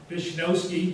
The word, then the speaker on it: Vizniowski: Vizniowski, because they pronounced the W as a V, and whoever was writing down wrote V-I-Z, and that's what we became.